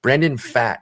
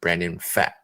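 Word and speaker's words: Brandon Pfaadt: within these next 10 days in the month brandon fat is our next guy and that is how you pronounce it it's p f a a d t p f a a d t brandon fat and um he spent most of his time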